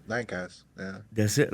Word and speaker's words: Lancaster: Lancaster. So How would you spell that? Lankister. Oh, with the K.